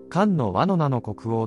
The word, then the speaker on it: 漢委奴国王: よれば、金印の読み方には諸説が存在しますが、漢の倭の名の国王という読み方が一般的であり、そ